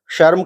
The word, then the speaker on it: श्रम: शर्म का अर्थ है लज्जा, लाज। और श्रम, श्रम का अर्थ है मेहनत। शर्म, श्रम दोनों का उच्चारण अलग अलग है।